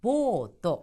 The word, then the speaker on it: ボート: 또 하나는 보트를 탄다라고 하지만 일본에서는 보트 같은 경우도 보또 하는 식으로 길게 발음을 한다는 발음상에 유의하실 점 꼭 기억해 두시기 바랍니다.